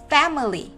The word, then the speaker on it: family: Đôi khi các em sẽ nghe thấy người ta đọc từ này là fa, family, family. Sẽ đọc thành family. Nghe như kiểu âm A mấy các em ạ. Family, family. Hoặc ở đây cô đọc là family, family, family. Đều được các em nhé. E hay là A đều được. Family hoặc family đều ok.